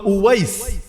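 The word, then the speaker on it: أويس: কিন্তু আল্লাহ তার এমন ভাবে প্রকাশিত করে দিয়েছেন, ওয়াইস আল কারানিকে চেনে নাকে, ওই বাংলায় হয়তো ওয়াইজ কুরুনি বলেন আর কি আপনারা, এটা ভুল উচ্চারণ।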